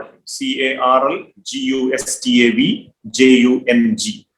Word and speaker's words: Jung: Carl Gustav Jung, as you call him, CARL GUSTAV JUNG. JUNG is the spelling, but the J is silent.